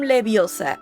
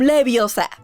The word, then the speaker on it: Leviosa: Segundo, hay que pronunciar el conjuro clara y correctamente. Por ejemplo, wingardium leviosa y no wingardium leviosa.